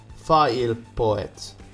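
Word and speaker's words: PhailPoet: P-H-A Fa'il Poet. Damn it. Let me ask my wife. Hey. How would you pronounce P-H-A-I-L Poet?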